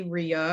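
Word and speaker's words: Rieu: current French model and her name is Jenny Ria and her last name is spelled r-i-e-u and she does a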